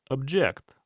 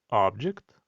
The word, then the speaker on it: object: Подивіться, коли в нас наголос стоїть на першому складі, object, це слово є іменником, предмет або об'єкт. І якщо ж ми змінюємо наголос на другий склад object, то це слово стає дієсловом.